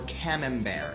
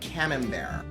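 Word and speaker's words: Camembert: But I recommend for your third get either brie or cam bear. It's spelled cambert. But cam bear.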